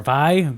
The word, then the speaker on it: Viy: week, and we ended up on V, or Vi, V. It's I think V. it's V. It's V. They pronounce it.